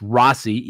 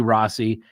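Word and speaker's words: Rozzi: Gull filed Bradley Rossi I believe it's pronounced Rossy even though it's a zz Bradley Rossi and Andrew Baldwin who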